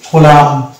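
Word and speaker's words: column: পরবর্তী শব্দ একই রকম ভাবে ক হবে, তারপরে ল ইউ আকার হয়, তাহলে এটা হচ্ছে কোলাম।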